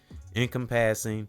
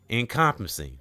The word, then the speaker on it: encompassing: Incompassing. Physical. If I said that right, it's sometimes I be mispronouncing these words. Okay. E N C O M P A S I N G. All right. Encompassing.